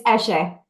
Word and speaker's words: Eshe: Is it pronounced Eshe? It's Eshe.